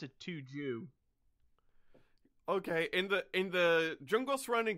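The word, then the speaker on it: Tujuh: I pronounce it Tuju.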